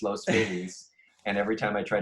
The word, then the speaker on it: Los Feliz: But we all say Los Feliz.